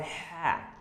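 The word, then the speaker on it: ح: And when there is no dot, without dot, it's called ha. Ha, ha, ha. You will have to pronunciate it from your throat.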